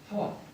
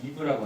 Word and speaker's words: 하와: 이 하와라고 하는 것은 우리 영어 성경 보면 이브라고 하잖아요. 근데 왜 우리는 하와랄까? 근데 원어 성경에 보면은 이 하와라고 되어 있습니다. 하와. 그러니까 우리가 이렇게 발음하는 게 사실 원어 성경에 굉장히 가까운 거죠.